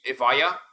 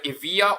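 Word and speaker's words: Evija: as by the way that's actually the correct way to pronounce it it's either IIA or EV a you can pronounce it as Ava if you want it uh if you want to sound fancy so the GT3 RS in the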